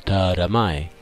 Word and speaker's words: Taramae: Tienes que parecer tonto cuando lo pronuncias. Taramae.